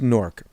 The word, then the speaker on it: Newark: people are like what's nork i'll explain it to you i'll explain it on many podcasts but if you grew up in newark new jersey n-e-w-a-r-k our accent pronounces it as nork nork how do you